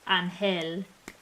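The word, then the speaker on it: Ángel: Imagine someone having the name angel and having someone misspell it as angle. Oh, no. That would be kind of devastating. Oh, that makes me sad to think about, but I could totally see it. It's pronounced anhel.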